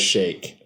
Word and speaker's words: Sheikh: pull it up yeah it's spelled chic on the wikipedia yeah i even googled it the other day and it came up as shake really yes like when